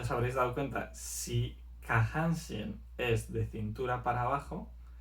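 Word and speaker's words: 下半身: Por ejemplo, si yo digo kahanshin, esto significa de cintura para abajo.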